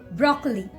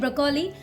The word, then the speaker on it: broccoli: Broccoli. Just see, many people they used to call it broccoli. Okay, so don't call it broccoli. So the correct pronunciation of this vegetable name is broccoli.